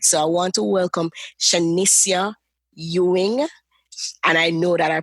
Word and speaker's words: Shenesia Ewing: So I want to welcome Shenesia Ewing, and I know that I pronounced that right?